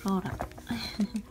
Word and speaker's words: Rola: rola rola Per rola Pero dito sa Japan yung pagpronounce nila is rora Ayan iba't ibang info